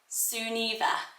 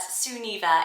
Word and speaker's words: Sunniva: So I wonder if I prefer Sunniva because of the link to sun, but Sunniva is the traditional pronunciation, and it means sun gift, which is absolutely gorgeous as a meaning.